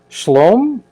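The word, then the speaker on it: Scialom: mispronounce his name badly last name is s-c-i-l-o-m shalom he created this cocktail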